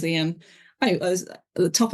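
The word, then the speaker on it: Eoin: arms and it's about Owen mcgonagal or Ian mcgonagal as I believe they pronounced it and I've definitely slipped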